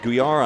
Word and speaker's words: Gouillart: If you're watching, may I say my name's Greg Guar.